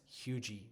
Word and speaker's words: Huger: the traditional French pronunciation, such as Hugy Street, spelled Huger.